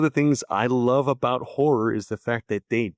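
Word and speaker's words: HO99O9: It's HO9909, but it's pronounced horror.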